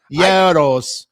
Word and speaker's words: gyro: Do you have gyros pronounced as hero? Heroes? How do you say it with someone? Yoros.